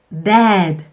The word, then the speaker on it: dad: 혀를 윗니 뒤에 붙이시고요. 입을 양쪽으로 충분히 벌리신 다음에 dad 이름절로 발음해 주세요. dad 이렇게 발음을 넣으면 이상해지니까 꼭 주의해 주세요.